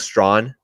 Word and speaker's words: Strachan: A guy that, look, you're not going to be drafting him in redraft leagues, but in dynasty leagues, Mike Strawn, aka Mike Strachan, is pronounced Mike Strawn.